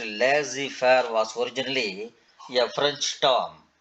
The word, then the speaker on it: laissez-faire: Laissez-faire, typically pronounced laissez-faire, was originally a French term.